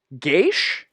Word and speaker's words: geas: Oh, the geish. Geish? Yeah, Yeesh. it's an Irish word, a geish.